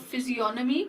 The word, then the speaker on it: physiognomy: He applied the ancient technique of physiognomy to criminology. Physiognomy, the G is silent here.